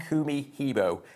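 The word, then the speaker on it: Kumihimo: Kumi Hebo. Say it as two words. Split it into two.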